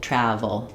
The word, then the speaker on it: travel: And then when I'm making the vv sound, my upper teeth and lower lip are connecting. Vv to make a restricted air. So B closes the air entirely. Uses both lips. VV is the upper lip and the lower teeth.